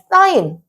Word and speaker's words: 사인: 있는데 첫 번째 자, 사인 자, 이걸 이제 사인이라고 읽어요. 사인. 자, 그다음에 두 번째는 자, 코사인.